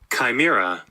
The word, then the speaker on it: chimera: about an episode called chimera it's the correct pronunciation chimera this is episode 14 of season 7 it